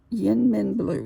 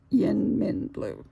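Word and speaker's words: YInMn Blue: that is it's um Yin Min blue is the way I pronounce it Yin Min blue it's why l n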